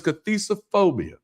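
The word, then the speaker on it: cathisophobia: Have y'all heard of cisophobia before? By the way, it could be spelled with a C or a K, but it's cathizophobia.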